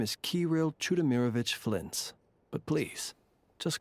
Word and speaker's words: Flins: My name is Kirill Chudamirovich Flintz, but please, just call me Flintz. So that's how you pronounce that. Kirill Chudamirovich Flins.